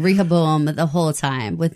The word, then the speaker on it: Rehoboam: Like, if you listen to the way Sirach says it, where he puts the emphasis on the second syllable of Rehoboam, that's apparently the more correct way to say it.